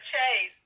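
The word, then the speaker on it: chaise: How do you say that? C H A I S E. The chase. The chase.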